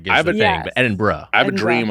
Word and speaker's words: Edinburgh: Edinburgh. I did say Edinburgh growing up because I think it was like, it felt like a borough.